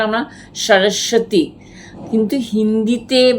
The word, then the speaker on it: সরস্বতী: বয় শূন্য রয় বয় এই ব টা সাইলেন্ট বই ব টা আমরা সরস্বতী কিন্তু হিন্দিতে বা সংস্কৃতে